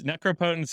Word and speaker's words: necropotence: card called uh uh necropotence or necropotence however you want to pronounce it that ended up being such a dominant macro impotence maybe no necro opponents necropotence is the common pronunciation yeah um that uh